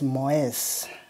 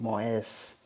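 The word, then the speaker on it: Mäuse: This is a bit tricky to pronounce, okay? It's Moes. So you see we have added E, and here you have to put the umlaut, so it will be Moes.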